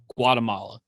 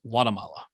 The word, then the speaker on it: Guatemala: originally a native of Guatemala but he was saying it without the hard G more like like Guatemala and so I'm trying